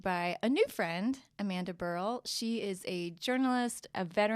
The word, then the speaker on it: Burrill: Burrill. We never actually covered that. Right, one syllable. Burrill. Like B-E-R-L, Burrill.